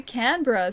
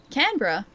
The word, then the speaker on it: Canberra: When Wait, when you say Canberra, so wrong. Wait, Canra.